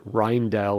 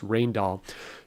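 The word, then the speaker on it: Rijndael: grab some encryption algorithm like rall or some people call it reindel or rendel or whatever but it's pronounced rainall do not use rainall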